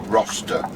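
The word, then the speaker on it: Rocester: turn right up to roster to did you pronounce it roster ro roster r o c e s t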